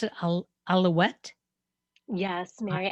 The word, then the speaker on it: Alouette: country her name is mary and do we pronounce it alouette yes mary alouette i got it right so mary and i